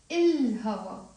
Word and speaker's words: الهوا: الهوا. We pronounce the lam because the he is a moon letter.